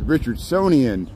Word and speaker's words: Richardsonian: saying it wrong it's Richard sonian Romanesque not Richardson Romanesque I would name the architect whose name was Richardson but to say it correctly it's richardsonian Romanesque architectural style and shows you I'm